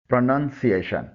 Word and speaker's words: pronunciation: اس کا پہلا حصہ پرو نہیں ہے بلکہ پرا ہے. مکمل درست تلفظ ہے پروننسیشن.